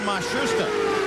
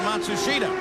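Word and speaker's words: Matsushita: in the Pensky cars they've changed the pronunciation again they've given it to us four or five different ways now it seems that they have settled on masusa they started the year with matsua but he is the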